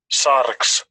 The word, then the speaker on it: sarx: Sarx, Sarx. Oh, well, that's nice. Put a little trill into the R.